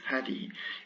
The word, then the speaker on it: هذه: So this is the pronunciation of this hadi.